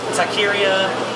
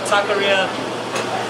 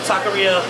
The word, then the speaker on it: taqueria: to it so um as far as taqueria people can't pronounce that they always say tykira or they'll be like